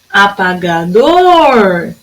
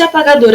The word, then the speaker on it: apagador: Porque se apagador, a sílaba mais forte foi o dor, dor é a última.